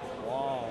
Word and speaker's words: Wang: Wong. That's Wong. Rhymes with schlong, long, dong.